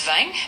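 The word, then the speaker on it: vingt: Number 20 in French is vang. Uh, and it's spelled V I N GT.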